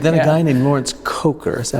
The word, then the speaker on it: Kocher: But then a guy named Lawrence Coker, is that how you pronounce his name? Yeah, Lawrence Coker.